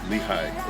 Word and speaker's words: Lehigh: Is it Leah or Lehigh? Lehigh. Lehigh.